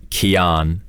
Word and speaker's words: Keyan: Because a lot of people get it wrong, and YouTube butchers it all the time. It's Keyan. Oh, okay. That's how you actually pronounce it, right?